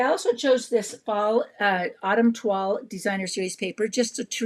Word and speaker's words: toile: So you'll see, like, this one right here is very toile.